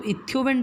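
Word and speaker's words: Einthoven: ये कैसे होता है, तो एक ट्राइंगल है जिसे हम कहते हैं इथियोवन ट्राइंगल। ओके, सॉरी इथियोवन नहीं, इट्स इंथियोवन, EIN।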